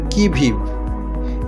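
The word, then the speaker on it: qui vive: Number 2, অন দ্য কি ভিভ। QUI এর you silent থাকে এবং VIVE এর ই সাইলেন্ট থাকে। আমাদের প্রনাউন্সিয়েশনটা করতে হবে কি ভিভ।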